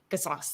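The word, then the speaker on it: Qisas: to the retributive justice of, I can never pronounce it right, Kisos? Kisos? That's us. Kisos, thank you.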